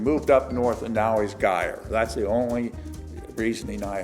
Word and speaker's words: Geyer: when you get away from our County it's guy spelled the same pronounced differently my theory on that is when he lived in mount gilead he was poor and his name was gear then he got all these stores and moved